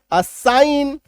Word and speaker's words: assign: ASSIGN, जी को काट दो, जीएन आया ना, अब पढ़ो। असाइन, CAMPAIGN, जी को काट दो, अब पढ़ो।